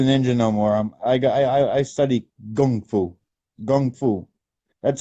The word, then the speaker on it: kung fu: I study kung fu. That's how we pronounce it. Yeah, gung. I'm very, I'm fluent with the Chinese. We pronounce it gung fu.